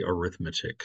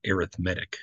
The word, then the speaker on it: arithmetic: descriptive word and so you have to put the emphasis on the other syllables and so um it is called arithmetic you kind of have